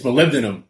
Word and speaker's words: molybdenum: It's molybdenum. That's how we pronounce it.